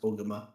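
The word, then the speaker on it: ogimaa: It's pronounced Ogama.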